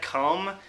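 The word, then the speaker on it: Cum: really enjoying the track have a sad comb which is spelt like you know like semen come i just really love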